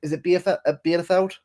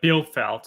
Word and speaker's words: Bielefeld: Is it Bielefeld? Came from. Germany? Bielefeld, I believe it's pronounced. Yeah, Bielefeld. Yeah, he came in, and he did a great job.